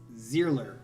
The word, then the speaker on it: Zierler: so here we go it's zealer okay zealer zealer is how you say it all right let's go